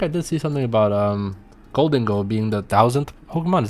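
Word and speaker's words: Gholdengo: Apparently, the official pronunciation is Golden Gold.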